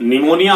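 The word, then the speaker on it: pneumonia: सो निमोनिया हमने बोला तो पी के बाद एन था तो निमोनिया ही हो गया।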